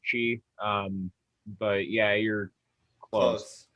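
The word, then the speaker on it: Kyi: is that right the the last word there is chi um but yeah you're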